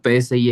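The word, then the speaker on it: ψ: Sí, es este fi y se pronuncia, bueno, psi es psi, ¿no? Psi, correcto.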